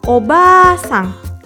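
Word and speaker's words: おばあさん: nenek adalah obat sang harap diperhatikan ya sobat kompeten panjang pendek pelafalannya ini sangat penting karena apabila dilafalkan dengan pendek artinya jadi Bibi bahasa Jepangnya adalah ombak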